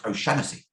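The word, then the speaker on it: O'Shaughnessy: real name is darren o'shockpussy and in limerick that's often pronounced oh shanicey my grandfather my father's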